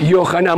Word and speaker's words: Yohanan: nombre Juan Cómo se dice Juan en hebreo johanan yohanan muy bien algú yanan que él va él